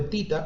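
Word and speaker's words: theta: Seno de tita, o teta como se le quiera pronunciar, es igual a 1/3.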